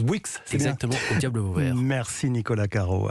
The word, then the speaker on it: Bouix: Alfy donc c'est bien ça de Christopher Bouix prononce Bouix merci Nicolas Caro à demain et Louise Goua